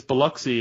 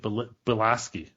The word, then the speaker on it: Biloxi: It's Biloxi, and they're pronouncing it Bilaski.